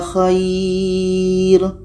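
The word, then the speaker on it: خير: dhalika khair.” “Khair.” “Khair.” Ah, ini dibaca pelan, ya. "Khair." " Khauf." Waw mati dengan fatha di depannya. Ya, huruf tenang yang didahului oleh fatha dibaca dengan lembut.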